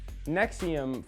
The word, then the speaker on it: NXIVM: start at the beginning nexium for some reason is spelled like a bad soundcloud rap group and it was started